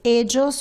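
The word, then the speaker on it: ellos: You can say edos or edas. Both pronunciation are correct.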